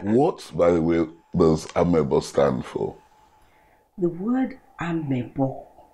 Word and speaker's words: Avwebo: Actually, that word should be spelled like with a little bit of V, with a V, with the sound of a V. Avwebo, but we can't say it like Avwebo. Yes, Avwebo.